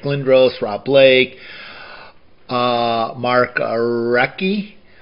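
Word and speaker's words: Recchi: Rob Blake uh Mark recky did I say it right that time it's not REI is recky I think uh Patrick W Luke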